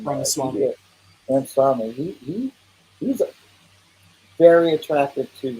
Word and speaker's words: Ramaswamy: It surprises Vivek Ramsaway, however you say his name. Ramaswamy.